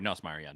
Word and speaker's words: Nussmeier: Sorry, Nussmeier, not Niedermeyer.